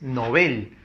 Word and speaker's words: novel: conocida nobel significa novato recuerda que la pronunciación es novel cuando es novel puesto que el nobel es el apellido apellido pues de alfred nobel no acá tenemos 90